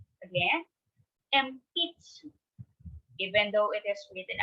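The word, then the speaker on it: 鉛筆: Next, pencil in Japanese is empitsu. Again, empitsu. Even though it is written as empitsu, we should read it and pronounce it as empitsu, pencil.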